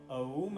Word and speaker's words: औम: सकते हैं ध्यान रहे यह ओम नहीं है यह आकार मकार उकार अर्थात अ उ और म औम है अ उ म ओ म नहीं ओम है शुद्ध उच्चारण करें हरी